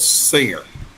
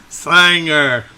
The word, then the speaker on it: Singer: So a little rural community called Singer. But a lot of folks around here pronounce it Sanger. Sire. Sanger. Yeah, it rhymes with Fanger, Sanger.